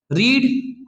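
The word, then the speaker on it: read: होता है वाज का रीड तो बेटा सबसे पहले बात आती है कि रीड का first second third form रीड रेड रेड होता है स्पेलिंग सेम होती है लेकिन हमें कंटीन्यूअस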